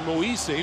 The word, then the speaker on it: Moise: Oh, he told us his name is really pronounced Moise, but rather than have people mispronouncing it left and right, he just said, just call me Moses.